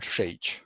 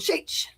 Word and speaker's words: Šejić: The way you pronounce my name is Stjepan Šejić. Sh- Dang it. It's an A sound. Šejić. I have all the vowels, but the consonant sounds.